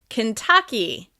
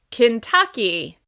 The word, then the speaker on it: Kentucky: This state is stressed on the second syllable. Kentucky, Kentucky, Kentucky.